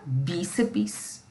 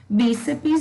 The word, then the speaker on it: bíceps: Bíceps é uma palavra trissílaba, professora. Tem o bi, o sé e o pis. BI, uma sílaba, CE, outra sílaba, PS, outra sílaba. Se você assistiu a essa aula e lembrar desse detalhe, você vai dizer, bíceps não é uma palavra trissílaba, e sim uma palavra dissílaba. Bíceps tem 2 sílabas, tá? É o bi e o cepes.